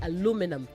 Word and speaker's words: aluminum: If you wanted to say aluminum, then you would not have an I after ran in the last syllable. So it will be num and not nium, okay? But before that, in British English, you say aluminium. In American English, you say aluminum.